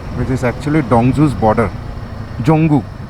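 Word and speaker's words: Dzongu: जोंगू, यहाँ के लोग उसको जोंगू बोलते हैं। The D is silent in that one.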